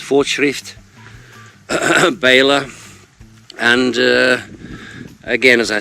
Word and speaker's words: Fortschritt: I think it's pronounced Fortschritt Baler.